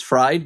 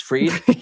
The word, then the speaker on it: Fried: And Sierra, a lot of people spell my name for some reason and they pronounce my last name as fried but it's freed.